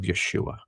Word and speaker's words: Yeshua: I said, do I really want to be a Christian, or do I want to be a disciple of Yeshua? That's how to pronounce the real name.